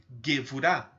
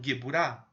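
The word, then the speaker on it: גבורה: Ou também algumas pessoas pronunciam Geburah, que não faz diferença. Porque a letra Bet e a letra Vet, elas se confundem. E elas só têm diferença por um ponto que se chama Dagesh dentro da letra. Então, tanto faz você pronunciar Geburah ou Gevurah, está correto.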